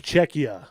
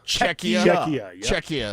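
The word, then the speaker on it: Czechia: It used to be the Czech Republic though, this country I believe Chetchia. I want to make sure I'm pronouncing this correctly. It's Czecha. Czecha.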